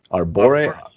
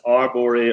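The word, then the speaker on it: Arbore: Our Bori, yes. They're known as Arbori or Erbori.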